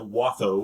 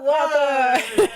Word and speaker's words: Watho: So I pronounce it Watho. I say it Watho!